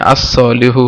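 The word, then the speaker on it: الصالحُ: এখানে একটা ব্যাপার লক্ষণীয় যে আগেই এটা এক্সপ্লেন করা হয়েছে, যা হুরুফে শামসি যখন আসবে তখন লাম উচ্চারিত হবে না, তাহলে আস সলিহু হবে, যেহেতু এটা সদ, এটা শামসি হরফ।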